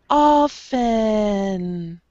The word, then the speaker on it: often: The T is just silent there. We say often.